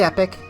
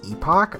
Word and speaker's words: Epoch: Now that's left is a quick hop on the epic. I know it's epoch. I just can't pronounce it right.